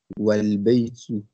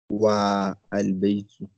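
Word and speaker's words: والبيت: Here the fat'a is pronounced, but it is preceded by wa, meaning and the fat'a is dropped and the phrase is pronounced walbaytu, not wa albaytu.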